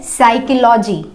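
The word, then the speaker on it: psychology: Next word है साइकोलॉजी। साइकोलॉजी, साइकोलॉजी की spelling हमेशा पी से स्टार्ट होती है, बट पी उसमें साइलेंट होता है क्योंकि पी के तुरंत बाद एस आता है।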